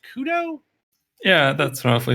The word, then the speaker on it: Khud0: Joining us this week is, also known as, I believe is that pronounced Khud0?